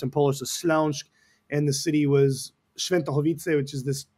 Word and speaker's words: Śląsk: of Poland in Silesia, in a region properly pronounced in Polish, the Śląsk, and the city was Świętochowice, which is this little place by Katowice, which is a big steel city.